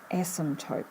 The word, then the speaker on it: asymptote: but never touches the asymptote is what we call it so the here the asymptotes it's a strange word without the silent p as some type isn't right and this particular graph